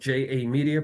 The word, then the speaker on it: JA Media: I've been very fortunate to start a business called JA Media, pronounced Ja Media, with filmmaker and photographer Jamal R.